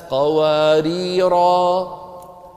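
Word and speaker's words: قواريرا: اللي شكل على شكل زيرو شكل بيضوي هكذا، هذا علامة أن هذا الحرف يقرأ وقفا ويسقط وصلا، إذا وصلنا الكلام لا ننطقه، إذا وقفنا ننطقه. كانت قوارير، قوارير من فضة، ففي الوصل ما في ألف، لكن لو وقفنا شو بنقول؟ كانت قوارير، بينما قوارير الثانية عليها صفر إيه؟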